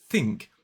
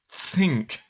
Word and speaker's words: think: word listen to this so if I say think but I instead have my tongue far out think it takes a long time to produce that sound and in fact I just